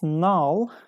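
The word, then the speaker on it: gnarl: tell me which answer is correct it means now like a rough or twisted lump on a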